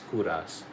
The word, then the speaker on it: Kouras: K O U R A S. Kuras is how it's uh pronounced, right?